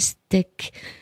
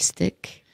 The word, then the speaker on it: Steck: il est animalistes et son nom s'appelle steak mais ça s'écrit pas comme un steak ça s'écrit sts et cas il nous vient de